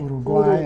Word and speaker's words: Uruguay: our flight to, and we always called it Uruguay because that's the way it's I was going to ask you how they pronounce it. pronounced Uruguay. Uruguay in Spanish.